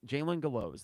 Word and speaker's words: Jalen Gallows: And Jalen, you told me, Jalen Gallows, there we go. I think he gave me the pronunciation.